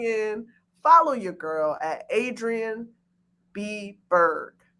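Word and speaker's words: Adrienne B Burg: follow your girl at adrian b berg okay it's exactly how it sounds adrian a d r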